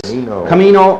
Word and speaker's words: comino: Comino or cumin. English pronunciation, cumin. Spanish, comino.